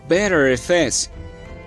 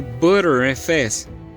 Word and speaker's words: Btrfs: geração para o Linux pronunciado como better FS que traduzido do inglês é sistema de arquivos melhor ou Butter FS traduzido por sistema de arquivos manteiga e algumas vezes eu